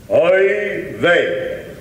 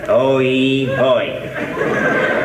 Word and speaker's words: oy vey: Repeat after me. Oy vey. Yes, now let me see how I would pronounce that word. Oy boy. Oy vey. Not exactly Senator Booby.